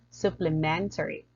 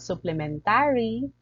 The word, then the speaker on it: supplementary: Okay, the food he is taking is just a supplementary. It's not supplementary, it's supplementary. I repeat, it's not supplementary. Usually I have it like supplementary.